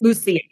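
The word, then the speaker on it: Luzia: Lucia. It's the Spanish as opposed to the Italian, yeah.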